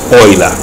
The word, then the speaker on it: Euler: y hablar de múner ya no la correcta pronunciación y de animal del apellido es hoy la y no para introducirnos en los grafos aliviados